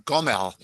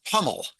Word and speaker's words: Gomel: That's Likewise, the town where Lebedev was born, Gomel, in Yiddish, it's Hummel.